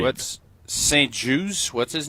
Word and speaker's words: Juste: Um so, I don't know if it's like the juice is loose juice or the T is silent or not.